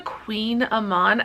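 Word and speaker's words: kouign-amann: They're called a Queen Amman. I'll try to, like, that's how it's pronounced.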